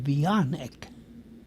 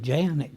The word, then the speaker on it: Janek: So my mother sent me to school under the name of Yionic. Now we pronounce it Janick here.